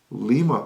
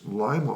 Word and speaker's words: Lima: would be in Peru you have Lima Peru which is Lima Ohio just like lima B and we have with